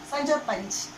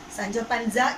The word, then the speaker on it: Sancho Panza: Its spelling and pronunciation also different. Okay, Sancho Panch. The spelling is Sanchopanzed. Sanchopanzed, and you may pronounce it Sancho Panza. It is wrong. Sancho Panza is wrong.